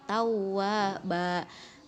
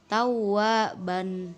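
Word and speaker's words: تَوَّابًا: fasabbih bukan fasabbih Khan terakhir bila ada fathatain yang berada di akhir kalimat maka dibaca Dua harokat menjadi tahu wahba itu ya bukan tahu aagban begitu ya Hai nenek anak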